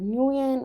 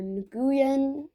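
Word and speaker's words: Nguyen: In English-sp speakaking countries, you'll hear either Nuen or Nuen. Both are understandable. tends to wrap your head around that ng sound at the beginning, which is pretty rare in English.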